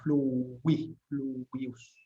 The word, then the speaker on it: fluvius: Yo la pronuncio siempre como una W inglesa, fluvius.